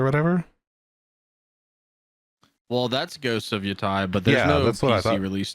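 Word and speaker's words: Yōtei: My bad, it's pronounced Yotai, apparently.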